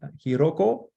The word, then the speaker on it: Hiroko: live webinar, which is Ashley Hiroko, or I don't know how to say it right. Hiroko? Yep.